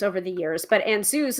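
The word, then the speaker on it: Ansuz: over the years but ansues is one of the ruins which also changed in pronunciation it started with a sound like ah and evolved more into an awe or o sound depending on the location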